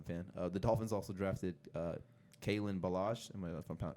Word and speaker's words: Kalen Ballage: The Dolphins also drafted Kalen Ballage. If I'm pronouncing that right?